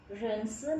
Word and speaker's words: 认识: Oke, rense ni, rense ini kan huruf R ya, huruf R tetap bacanya R biasa ya, rense ni, koma, wo, saya, wo hen kaoxing, saya sangat senang.